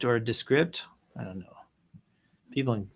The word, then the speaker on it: Descript: Kieran Shahid with Descript or Descript. I don't know. People in Silicon Valley, I'm sure, have a way to pronounce it. It's Descript.